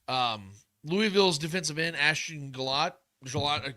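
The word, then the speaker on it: Gillotte: Um, Louisville's defensive end Ashton Galot. Gelot Galot is how you say his name.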